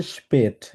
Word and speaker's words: spät: হ্যাঁ এটাকে বলবো হচ্ছে স্পেট, কারণ আকে আয়ের উপরে উমলাউট থাকলে এর মতো উচ্চারণ করি স্পেট। Spät. আবার বলেন। Warum kommst du so spät? হ্যাঁ জু না সু, সু So স্পেট।